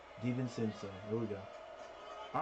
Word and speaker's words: DiVincenzo: DiVincenzo.